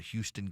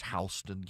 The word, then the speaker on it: Houston: They've got Houston County, but it's Hston County.